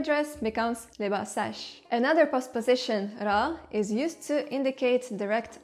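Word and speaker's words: را: But in spoken language, they say ro instead of ra, and even o, because why pronounce more sounds when you can pronounce less?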